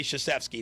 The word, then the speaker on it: Krzyzewski: Yeah, you don't put a K and then say Krzyzewski and keep the K silent.